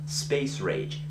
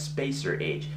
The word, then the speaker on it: Space Rage: this particular film called space rage now at first I mispronounced this as spacer age because the title ran together everywhere on the box